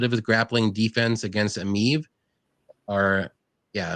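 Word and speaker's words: Emeev: a little bit of his grappling defense against emiv or yeah I'm right is that how you say it yeah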